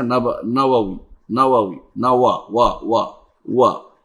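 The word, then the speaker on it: النووي: সময় দেখা যায় বলে ইমাম নববী, এটা ভুল, ইমাম নববী কেন হলো? ইমাম নবাউই, নওয়াউই, নওয়াউই, ইমাম নববী না, বা উচ্চারণ হবে নওয়াউই, ওয়াও, দুইটা ওয়াও, নওয়াউই।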